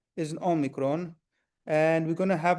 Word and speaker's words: omicron: So if somebody says Amicron virus, you're going to have to correct them and says it's Omicron.